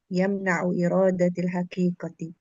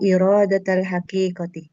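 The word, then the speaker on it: إرادةَ الحقيقةِ: An yuhmala al-lafzu ala al-majazihi illa bidalilin sahihin yamna'u iradatil haqiqati. Yamna'u muta'addi itu. Yamna'u iradatal haqiqati. Gitu bacanya.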